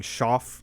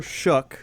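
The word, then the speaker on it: Shough: We were saying saying Shoff, I think, last episode. I don't know. I All I said was we don't know how to say his name. That was our take. We don't know how to say the guy's name. Yeah. Tyler Shuck is officially, I think, the way it's supposed to be pronounced.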